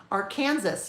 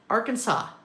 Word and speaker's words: Arkansas: Um, YouTubers in Europe often can't say Arkansas. They say ar Kansas. Our Kansas.